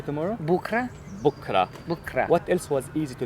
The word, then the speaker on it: بكرة: Bukra.